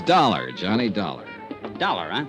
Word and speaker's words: Dollar: It's dollar. Johnny Dollar. Dollar. Huh? It rhymes with color.